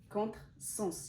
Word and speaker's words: contre-sens: initiale parce qu'on dit contre-sens il y a le premier mot et le deuxième mot sens c'est avec un S donc ça se prononce S parasol parasol parce qu'on